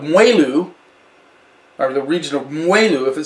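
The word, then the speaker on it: moelleux: or the region of mueller if it says on the label it's going to be sweet and that mueller is spelled as spelled m-o-e-l-l-e-u-x so if you see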